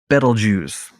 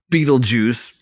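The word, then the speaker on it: Betelgeuse: I like to pronounce it Beetle Juice, not Beetle Juice.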